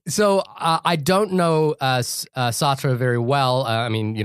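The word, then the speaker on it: Sartre: Um, and uh I'm not that well verssed on Jean Paul Satir um Satra, sorry.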